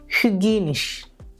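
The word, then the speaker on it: hygienisch: യുപ്സിലോണിൻ്റെ ഉച്ചാരണം യു എന്നുള്ള രീതിയിൽ വേണം ഉച്ചരിക്കാൻ. ഉദാഹരണം ട്യൂപ്പിഷ്, ഹ്യുഗീനിഷ്, ട്യൂപ്പിഷ്, ഹ്യുഗീനിഷ്.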